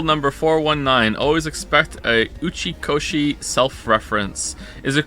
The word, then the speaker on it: Uchikoshi: Also, just to be 100% clear, am I actually saying Uchikoshi? correctly? I don't want to mispronounce someone's name.